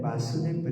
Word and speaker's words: Vasudeva: Pronounce always Vasudeva, Vasudeva. Vasudeva. Vasudeva. Yeah, Vasudeva, yes. When Vasudeva reached, means short A. One is Vasudeva, means Krishna. Borano Vasudeva, Vasudeva is short.